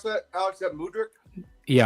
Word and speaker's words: Mudryk: Is how do you pronounce that, Alex? Is that Mudryk? Yeah, Mudryk. Mudryk.